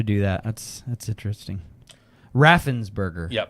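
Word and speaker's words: Raffensperger: I thought you were saying Rafenberger. What did I say? I think that's what you were saying and I was saying it wrong in my head and it's Raffensburgger, right?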